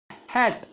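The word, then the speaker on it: hate: ध्यान रखना, इसको हम HAT, ये होता है हैट, और इसको कहेंगे हेट। हेट का मतलब होता है घृणा, और हैट का मतलब होता है आपका कैप, टोपी। तो प्रोनाउंसिएशन करने से पहले आपको ध्यान से रहना करना चाहिए। इसको हम प्रोनाउंस करते समय डबल मात्रा से प्रोनाउंस करेंगे, हेट। हेट प्रोनाउंस करेंगे।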